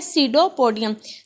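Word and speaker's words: pseudopodium: सीडोपोडियम, ये P silent है, इसको हम बोलेंगे सीडोपोडियम।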